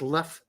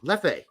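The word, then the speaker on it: Leffe: am drinking once again my last bottle of lefe hmm and no it's not pronounced left or left oh it's lefe I've been told that's how it's pronounced by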